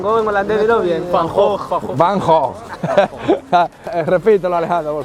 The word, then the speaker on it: Van Gogh: Van Gogh. Van Gogh. Repítelo, Alejandro, por favor. Van Gogh.